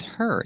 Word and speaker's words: her: her diet again with her the H is silent because the word her is not a stressed word so you hear honor